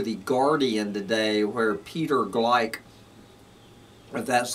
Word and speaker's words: Gleick: go over to the guardian today where peter gleick that's how you pronounce this man's name has a has an